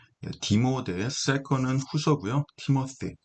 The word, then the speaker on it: Timothy: Second Timothy, 디모데, second은 후서고요. Timothy, th 사운드는 일명 번데기 발음이라고 하죠. the 사운드, 고맙습니다. thank you 할 때 그 th 사운드, Timothy, 디모데를 이야기합니다.